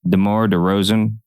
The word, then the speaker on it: DeMar DeRozan: DeMar DeRozan.